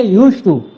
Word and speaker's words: used to: की बात है कि हम लोग बोलते हैं यूज्ड टू है लेकिन लिखते यूज्ड टू है लेकिन बोलते समय डी साइलेंट हो जाता है। बोलेंगे यूज्ड टू है ना दी नहीं बोलेंगे यूज्ड टू है ना